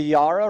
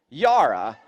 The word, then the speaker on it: Yarra: of my window, and I called it the Yarra River. And then a bunch of people left comments, and they were like, no, it's pronounced, and then they spelled out a word that to me would be pronounced Yara.